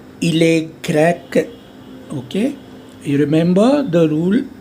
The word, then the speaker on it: grec: Il est grec, okay? You remember the rule, the last consonant, C, F, L, A. So it remains, you have to pronounce that.